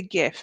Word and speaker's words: gif: can't see it gif jiff how do you say that gif gif i say gif because it's a gu if it was jif it would be a j like the old cleaning